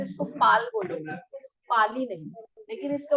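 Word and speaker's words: पालि: जैसे रामायण है ना, वैसे पिटक, और ये लिखी गई है पाली भाषा में, है ना, पाली भाषा में।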